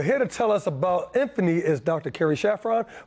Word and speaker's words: Infini: trend in ffunny the Infini skin treatment what exactly is it well probably the hardest thing about this treatment is pronouncing it because we always want to say infinite or infinite right but it's a